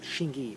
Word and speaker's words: Hsing I: But basically, again, the most popular pronunciation, so to speak, is known as Shing-ee for short.